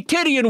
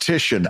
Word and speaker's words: Titian: Number one, I think it's pronounced Titian. No, it's Tidian, Brad.